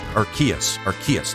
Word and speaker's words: Arceus: Arceus is pronounced Arceus, never mind.